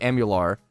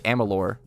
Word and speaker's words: Amalur: Kingdoms of am amalar I always say am Amar but it's Amalur Kingdoms of Amalur I will